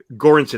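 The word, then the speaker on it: Göransson: know do you and you and Ludwig um gorinson is a proper way to pronounce his name correct yeah so so are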